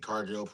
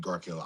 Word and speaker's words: Cargill: We got the typical Jade Cargill Jade Cargill. I said Jade Gargill. I call myself. I understand, sir. Relax. nah, Jade I'm Cargill. not mad. Jade Cargill.